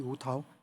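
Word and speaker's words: 吴夲: 涛，课本那个本不是课本的本，上面是大，底下一个十字架的十，念作涛，吴涛，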